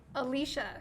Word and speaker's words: Alysha: Alysha. Alysha. Okay. Contrary to Dan Conrad, who convinced the entire Washington staff that it was Alysha. Oh. But it is and then he got Alysha.